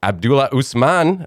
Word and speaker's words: Abdulla Usman: eager to learn more as i said so abdullah usman i hope i said it right yeah yeah